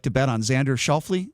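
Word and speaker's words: Xander Schauffele: like to bet on xander shelfly is that his name i always pronounce his name xander shuffle uh i read an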